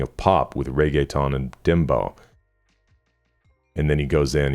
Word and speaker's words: dembow: Pronounce dembow as dembow. Stress the second syllable. Bow, which sounds like bow, or the English word dough.